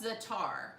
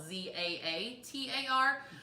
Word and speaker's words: za'atar: This is called za'atar.